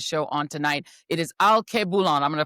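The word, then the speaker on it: Alkebulan: It is Al Koulan. I'm going to pronounce I'm going to spell it for you guys so you can figure out how to get it on Substack.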